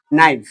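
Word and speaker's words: knee: এটার উচ্চারণ কি হবে যেহেতু কে আর এন একসাথে বসে তাইলে এটার উচ্চারণ হবে নি কারণ হচ্ছে কি কে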